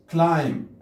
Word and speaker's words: climb: climb البين لا تلفظ لا نقول climb climb نتسلق.